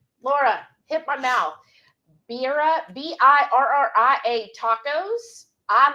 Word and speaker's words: birria: Yeah, birra tacos. I'm sure I mispronounced that, y'all. But birra. Laura... hit my mouth. Birra, Birria tacos.